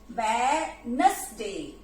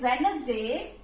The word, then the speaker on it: Wednesday: WED, wed, Wednesday, Wednesday, Wednesday, D is silent. WEDNES, Wednesday, Wednesday, Wednesday, Wednesday.